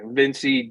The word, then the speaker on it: Evincii: Okay, Evincii Dixon. So I'm sorry, Evincii. I couldn't pronounce it.